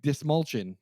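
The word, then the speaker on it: Dastmalchian: David Dashmalchian. Yeah, however you say his name. Dismalchian. That's how you pronounce it.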